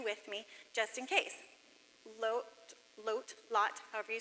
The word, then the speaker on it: Lot: Lot, however you say his name. It's written Lot in English. It's pronounced Lut or Lot in the Hebrew.